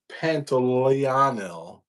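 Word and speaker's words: Pantoliano: Uh Joe Pantiano is how you say his name.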